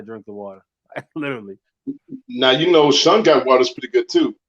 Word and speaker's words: Shungite: Now shungite water is pretty good too, because that shungite,